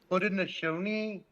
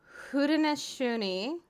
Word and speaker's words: Haudenosaunee: How you pronounce it is Haudenosaunee and Tuscarora. Haudenosaunee.